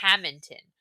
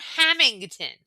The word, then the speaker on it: Hammonton: If you're going to ask me questions about Hammonton, please learn to pronounce the name of the town right. It's not Hammington. There's no G.